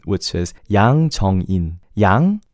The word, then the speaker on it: Yang: Yang is easy. Just don't say Yang. As long as you don't say... You know, another thing that I get annoyed, that's the same pronunciation as... You know the term yin and yang that people say? It's yang. At least in Korean, the way to pronounce it is yang.